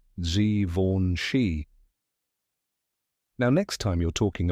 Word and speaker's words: Givenchy: Gori fun fact many people say givenchi or givenchi but now you know the right way z v shei now next time you're